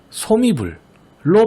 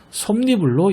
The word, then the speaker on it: 솜이불: 특히 이 혼니불, 반니랑, 솜니불의 경우 발음의 편의만 생각해서 호디불, 바디랑, 솜이불로 발음하는 경우가 종종 있거든요. 이렇게 읽지 말고 음절의 끝소리 규칙과 니은 첨가를 반드시 함께 적용해서 혼니불, 반니랑, 솜니불로 읽어야 한다는 것 꼭 주의했으면 좋겠어요.